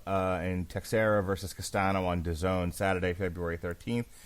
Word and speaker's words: DAZN: And on DAZN, which rhymes with calzone, as we know, Kovalev is fighting Milikuziev on DAZN.